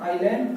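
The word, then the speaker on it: island: इसमें S silent हो जाता है, आइलैंड, तो इसमें क्या आएगा?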